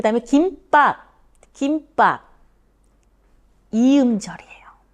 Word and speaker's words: 김: 자, 그 다음에 김밥, 김밥, 2음절이에요.